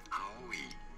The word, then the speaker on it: Aoi: You say it in Japanese and it's pronounced as Aoi. Aoi.